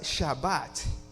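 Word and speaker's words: שבת: Y la palabra reposo, the word for rest, se pronuncia Shabbat, que también quiere decir parar o cesar.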